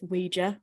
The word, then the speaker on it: Ouija: word so you can kind of say it however you want but the official corporate line is Ouija but I will definitely switch between the two because my brain can never decide how to pronounce it I think it always